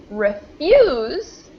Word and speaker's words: refuse: So we've got refuse, and we kind of pronounce that S like a Z. And then here, because of the stress change, it becomes refuse, refuse.